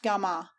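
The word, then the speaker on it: جامع: Hitherto the mosques had been of one form only, that of the Gami, commonly pronounced Gama, and meaning a place of assembly, or congregational mosque, where alone the Friday prayers, Guma, and sermon take place.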